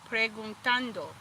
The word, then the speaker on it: preguntando: Pregun- preguntando. Preguntan. They say a T, but you want your T to pronounce like with a ta, ta, tando.